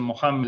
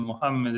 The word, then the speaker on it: Mohammed: En cambio, en inglés dicen Mohammed, en francés dicen Mohammed, es más cercano al original.